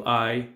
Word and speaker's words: hai: Hai una macchina. Hai una macchina. Again, the H is there, but it's not pronounced.